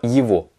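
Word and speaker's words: его: temps mais en général un gué entre deux voyelles va se prononcer va est donc là c'est le cas on va avoir ivo même chose pour le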